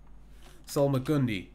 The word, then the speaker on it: salmagundi: because of the rule however you actually pronounced the last part of the word it sounds very similar to bread and that's selma gandhi or something like that so the salmagundi so McCune d is